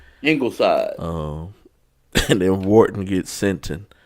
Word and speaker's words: Ingleside: Ingleside. And then Wharton gets Sinton. Is that Ingleside?